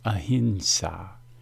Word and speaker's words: ahimsa: access to the power when you pronounce the term as a hint saw you were joining the